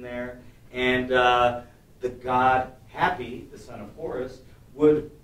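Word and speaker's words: Hapy: into the final jar this one i think we actually agree on how to pronounce it while it's spelled h-a-p-y we're going to say it's the god happy happy so this particular god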